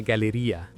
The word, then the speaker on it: galleria: You say a galleria. It is quite simple. A galleria.